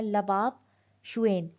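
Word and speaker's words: Lhabab Duechen: लबाब दुकेन या शुएन भी कहा जाता है, प्रोनाउंसिएशन है लबाब शुएन।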